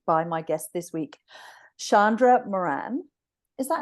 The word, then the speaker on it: Shandra Moran: and I'm joined by my guest this week Shandra Moran is that how I pronounce it perfect oh good and um so